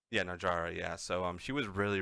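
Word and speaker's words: Najarra: Najera, right, is how you say her name. It's Najara. Yeah, Najara.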